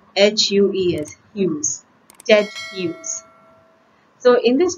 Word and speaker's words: Hughes: written by ted hughes it is pronounced as hughes not as huge or something else as you pronounce h-u-e-s hughes ted use so in